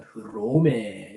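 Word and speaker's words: Ῥώμη: 이에수스 로마 로마하지만 흐로메 이렇게에 되고요.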